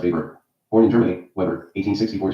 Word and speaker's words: Weber: Another important early theorist was Max Weber pronounced paper.